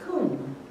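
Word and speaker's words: קום: It's Q, U with an umlaut, a little caret above it, and an M, and it's pronounced kum.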